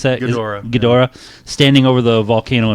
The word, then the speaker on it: Ghidorah: How do you pronounce that? Ghidorah.